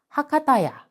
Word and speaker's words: Bakda-ok: It was home to Bakda-ok, known to be the city’s first large Japanese-style restaurant. The name Bakda-ok is pronounced Hakata-ya in Japanese.